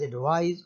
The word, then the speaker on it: advise: The first word advice is pronounced as advise.